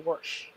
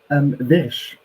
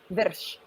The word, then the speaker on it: Wyrsch: By the way, I always say Wyrsch. Yeah, kind of right. Can you say it right? Wyrsch. Oh, that's right, because German's a V sound. My bad. Exactly. I'm Americanizing everything. Wyrsch.